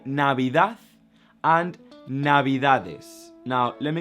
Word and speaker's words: Navidad: So we have Navidad, Navidad, Navidad, and I say the TH at the end, even though it ends up in a D, because it's how we pronounce it.